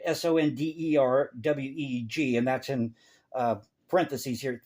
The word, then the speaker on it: Sonderweg: Whereas Goldhagen insisted on a more Soderweg, I believe is how you say it, Sonderweg, and that's in parentheses here, thesis.